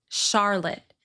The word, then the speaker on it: Charlotte: Charlotte. The vowel in the second syllable is reduced to schwa with a stopped T at the end because the final E is silent.